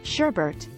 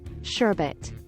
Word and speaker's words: sherbet: the pronunciation of sherbet some people remember the frozen dessert being pronounced Sherbert instead of sherbet 25 the portrait of Henry VIII many people